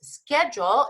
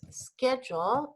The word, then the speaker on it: schedule: Schedule is a timetable. It is horario, and the pronunciation in England and in the United States is totally different.